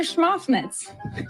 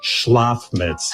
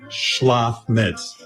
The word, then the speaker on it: Schlafmitz: Schmoffnitz. Say it right. Dr. Schmoffnitz. Say it again. Dr. Schmoffnitz. Dr. Schmoffnitz. It's Dr. Schlafmitz. Oh, Dr. Schmotzwitz. Listen to me. Schlafmitz.